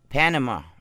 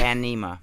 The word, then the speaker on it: Panema: Panama. Well, no, that's what you said last time. It's Panema? Panema. Stephen Delman, I'm so sorry I'm saying your band name wrong. It's Panema.